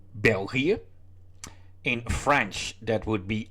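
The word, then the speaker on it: België: languages spoken in Belgium in Dutch that would be belgia in French that would be laic and in German that would be Belgian well uh of course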